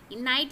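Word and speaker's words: knight: ये खाने वाला नाइट ये भी नाइट प्रोनाउंस करेंगे नाइट यानी की जो बहादुर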